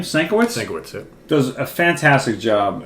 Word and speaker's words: Sienkiewicz: Sienkiewicz, yeah.